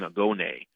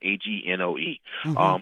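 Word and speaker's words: Angoe: is Night by Yasmin Agone. I'm pronouncing it wrong. It's Yasmin, Agnoe.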